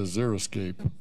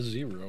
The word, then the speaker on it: Xeriscape: We will go to item 4.1, which is a discussion item on the Xeriscape ordinance as opposed to the Zeroscape ordinance. No, I did like the zero.